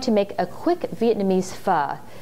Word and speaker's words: pho: Today I'm going to make a quick Vietnamese pho. It's spelled P-H-O, so it looks like pho, but it's pronounced pho as in fun.